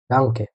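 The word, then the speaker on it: Danke: আমি যদি কিছু এক্সাম্পল র্যান্ডম শব্দ লিখি, এটা আপনারা গেস করতে পারেন যে এটার উচ্চারণ কি হবে। হলো ডে আ এন আ এ, ডাঙ্কে।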